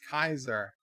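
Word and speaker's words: Caesar: a Fallout New Vegas Cesar pronounced Kaiser Joe and his government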